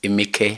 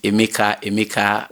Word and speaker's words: Emeke: You know, it wasn't actually a mistake because my name is Emeke. Emeke. That's how they pronounce it in Delta, Okwani, to be precise. But, you know, because people pronounce it Emeka. We're all used to the Igbo version.